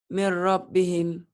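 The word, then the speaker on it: مِنْ رَبِّهِمْ: Setiap huruf mati bertemu huruf bertasdid, maka huruf matinya jangan dibaca. Gimana bacanya? Dari sini nyamber ke sini nih. Teng gitu ya. Gimana Ya. bacanya? Mir rabbihim.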